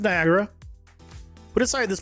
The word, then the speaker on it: Niagara: Why is the second a note pronounced by the way? Why is it not Nagara? Why is it Niagara?